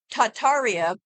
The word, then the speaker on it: Tartaria: um what is tartaria tartaria originally pronounced tartaria without the first R is the name of